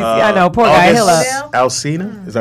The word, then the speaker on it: August Alsina: He'll Alsina, is that how you say his name? Yes, August Alsina.